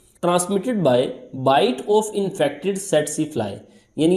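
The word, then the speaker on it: tsetse: यानी ये जो सेटसी फ्लाई है ये वेक्टर के तौर पे काम करती है। याद रखें इसकी प्रोनाउंसिएशन कैसी होगी, सेट सी।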